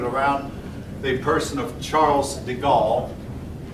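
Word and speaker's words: de Gaulle: the person of Charles deal if you're French you pronounce those names much different we do here but I've always called him Charles deal um the book pronounces it charl the go um anyway the go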